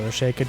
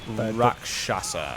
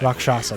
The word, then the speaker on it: Rakshasa: Yeah, so we uncovered the guys of the Rasheka demon. However you pronounce it. Rakshasa. Rakshasa, that's the one.